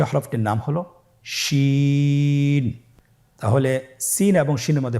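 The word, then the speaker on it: شين: পরবর্তী হরফ, শেষ হরফ আজকের পর্বের, সে হরফটির নাম হলো শিন।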